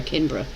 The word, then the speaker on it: Canberra: No, Canberra is the pronunciation.